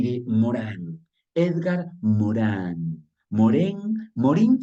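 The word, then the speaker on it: Edgar Morin: Morán Edgar Morán moren Morín se escribe con i Morán se eh dice en español pero en francés donde es él se dice morin Así que como ustedes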